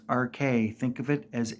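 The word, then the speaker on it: Arche: not AR or Arch there's an e at the end of it and it is said thousands of times in this game pronounced RK think of it as a r k a y it is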